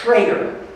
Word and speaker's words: Schrader: I believe that the name is Schrader, is how it's pronounced.